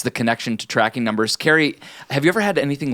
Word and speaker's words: Carrie: and I'm joined by someone whose name rhymes with terrari Carrie there we go hi